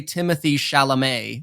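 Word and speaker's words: Timothée Chalamet: and he was like look I gotta say Timothy sha'lame all day Timothy sha'lame you got you guys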